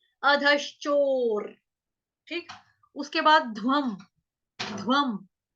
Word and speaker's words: अधश्चोर्: अभी र कौन सा कैसे बोल रही हूँ मैं? क्यों? क्योंकि रफार वाला और र आधा है, जब आधा र होता है उसका उच्चारण हम इसी तरह से करते हैं, अधश्चोर, अधश्चोर।